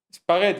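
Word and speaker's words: espagueti: Te dicen espaguetti. Venga, repaso. Espaguetti. Espaguetti. ¿Qué ha pasado? Hemos visto cómo se escribía en italiano, cómo hemos pensado en la pronunciación que le daríamos hispanizadamente espaguetti, y teniendo esa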